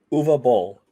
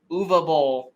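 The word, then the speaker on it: Uwe Boll: we are talking about say his name because i don't say it wrong uva bowl uva bowl i always say ooey uh bowls house of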